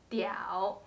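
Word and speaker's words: 屌: word is pronounced diau that's why the whole character is pronounced diao this diao means hanging so what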